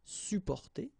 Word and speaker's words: supporter: You don't really pronounce the two or the double P here. Supporter.